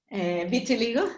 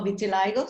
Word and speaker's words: vitiligo: It's called vitiligo or vitiligo, some people pronounce.